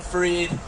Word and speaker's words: Fried: I'm your host, Freed, spelled like fried. So I am qualified to be your host tonight because I am in fact fried. Some people like to say, oh, but you said it's pronounced freed.